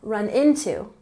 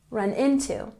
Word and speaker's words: run into: we have run into into has the emphasis on the first syllable run into run into it means that you